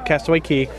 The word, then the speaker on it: Castaway Cay: Bahamas Castaway Cay no castaway key it does say K but it's pronounced key what didn't you just